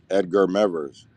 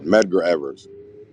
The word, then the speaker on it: Medgar Evers: I think about uh Edgar mevers I think I just said his name wrong uh Medgar Evers who was Lance when